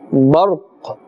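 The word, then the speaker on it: برق: We are removing this and we are giving it a temporary jazm or temporary sakin, and therefore we are pronouncing barq.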